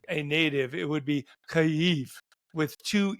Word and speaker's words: Kyiv: Well, why would you say Kiev? It's I mean, Kiev. like, well, it's actually Kyiv.